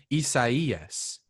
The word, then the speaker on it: Isaias: Last time we talked, I said Hurricane Isaiah. We all said Hurricane Isaias. That's not even how you say it. I learned Thursday or Friday. Motherfucker Spanish. Why would they do this? It's pronounced Hurricane Isaias.